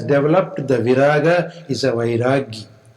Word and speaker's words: vairagi: And the one who has developed the viraga is a vairagi. Vairagi is sometimes colloquially called a bairagi.